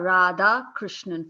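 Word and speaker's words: Radhakrishnan: correct yes that's correct it's Radha Krishnan four syllables but people call me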